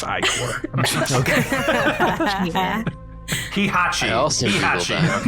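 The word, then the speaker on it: ichor: Also, the phonetic spelling of it is Icor, so I'm just letting everyone know it's pronounced Icor.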